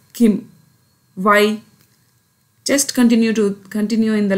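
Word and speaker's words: 김: Here I have written Gim, but I am pronouncing as Kim.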